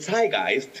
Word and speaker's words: Zeitgeist: como uno dice el zeitgeist, pero el zeitgeist, que sería como la pronunciación alemana correcta, estoy casado con un alemán, así que si no me llega el charchazo después, pues no.